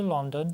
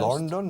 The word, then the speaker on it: London: Actually, we flew to London first. London? No, London. We flew to London first.